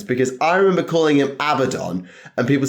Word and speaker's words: Abaddon: um so it is um not it's not a badon it's Abaddon so it is like as Wade would call